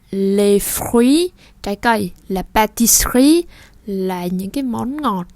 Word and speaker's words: pâtisserie: Để chúng ta để cái lưỡi thẳng và dằn nó xuống một cái. Sr. La pâtisserie. Còn nếu không thì la pâtisserie.